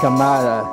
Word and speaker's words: Jorge Cámara: My name is Jorge Cámara, pronounced Camara in the United States.